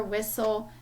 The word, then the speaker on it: whistle: When the letters STLE are together in a word, the letter T is silent.